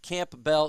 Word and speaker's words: Campbell: girl and that's that's great Dr Detroit says Camp Bell is how I pronounce it too as as two as two